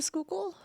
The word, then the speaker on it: Schuylkill: It's written like Squealkill, right? yeah. Okay. It's Schuylkill. Squealkill. Here, I'm just gonna do a screen share so they can see it. There, Schuylkill. Yeah. Schuylkill is how it's pronounced, but a show the fuck ain't how it's spelled.